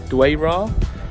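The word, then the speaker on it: Dwejra: it, because I know Maltese, like a lot of other European languages, sort of pronounce the J's as Y's. So I presume it's pronounced Dwayra.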